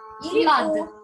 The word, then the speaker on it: flood: Две О у нас передают в данном случае звук А. Такой краткий звук А. А. Flood.